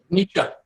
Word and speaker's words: Nietzsche: How do you pronounce that, Stewart? Nietzsche.